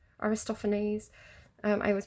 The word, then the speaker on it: Aristophanes: check is it aristopher I don't think it's aristophones Aristophanes um I always pronounce everything wrong euripides it's um media by